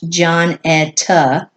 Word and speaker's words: Jonetta: My wife, Jonetta, pronounced John-etta, whispered softly, "Who are they?"